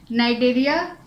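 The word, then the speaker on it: Cnidaria: इसका दूसरा नाम है नाइडेरिया, लेकिन ध्यान रखना ये सी से स्टार्ट होती है और सी यहाँ साइलेंट है, तो ये थोड़ा सा ध्यान रखना।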